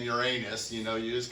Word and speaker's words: Uranus: exciting pictures of the Voyager out flying around Ur anus you know it's just there's just no way